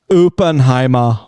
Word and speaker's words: Oppenheimer: It's pronounced Oppenheimer.